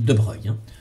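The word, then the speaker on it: de Broglie: deux bras glissade après ça s'écrit mais on dit de breuil relation de de breuil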